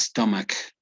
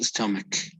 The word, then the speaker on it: stomach: It's not stomach, right? It's stomach. It's like the pronunciation is between an A and an E. It's stomach, not stomach, stomach.